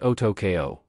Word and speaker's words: Otoko: First name pronounced and the second name is pronounced Otokeo, but just call me.